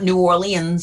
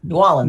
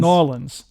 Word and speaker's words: New Orleans: it's not louisville okay it's not new orleans it's new orleans new orleans yeah well that's a